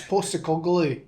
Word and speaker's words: Postecoglou: James's Park, I think Tottenham has shown inconsistencies underneath Postecoglou, or however you say his name. It's Postecoglou. Okay, he's from New Zealand. It's Postecoglou. Yeah, correct. That's exactly how I wanted to say it.